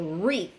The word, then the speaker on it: wreath: the word wreath and as we can hear we do not pronounce the w so wreath and the w is silent next word is rap